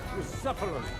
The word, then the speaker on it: Bucephalus: What kind of name is Bruce Phallus, anyway? It's pronounced Bucephalus. See now, just mispronounce the name.